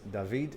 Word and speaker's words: David: i heard someone say why i pronounce david instead of david well because you would have to pronounce it in spanish i guess since this gentleman's from spain and that's how it goes over there okay so al-qaeda taking a